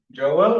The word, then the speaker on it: Joel: Uh I'm Joel or in Sw I'm Swedish in Sweden with the U. Joel is perfectly fine.